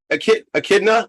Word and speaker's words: Echidna: Echidna.